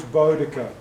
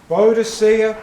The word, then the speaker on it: Boudica: course the woman was bodica bodicia boudicca names are pronounced a bit differently because of two thousand years passing but in a